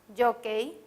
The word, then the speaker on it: jockey: última sílaba del cei en la palabra jockey jockey el acento se ubica en la penúltima sílaba me voy a subrayar